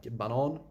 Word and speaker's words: banan: Banan, which means banana, but if you pronounce it banan, it means the track.